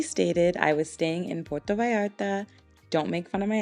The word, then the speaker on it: Puerto Vallarta: As previously stated, I was staying in Puerto Vallarta. Don't make fun of my accent. Apparently you pronounce the L's like Y's.